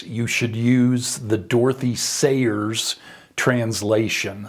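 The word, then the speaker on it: Sayers: should use the Dorothy Sers translation. Sers is spelled S A Y R S.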